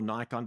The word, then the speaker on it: Nikon: And it's not important whether you shoot with Nikon or Nikon depending on how you pronounce it or another camera